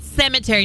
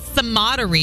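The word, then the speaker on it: Sematary: and by the way it's pet cemetery not pet caterie on Friday you kept saying pet sodie and I was like what is a Soder you yeah but it's cemetery is what cery but it's spelled Soder yes it is cuz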